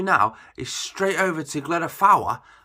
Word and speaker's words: Glyder Fawr: is straight over to glenda fowler i learned how to say it properly because i met somebody just up there and he's like yeah i've just been up to glen of flower so that's what i'm going